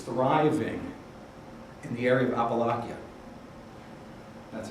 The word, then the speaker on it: Appalachia: This epidemic is thriving in the area of Appalachia. That's how you pronounce it.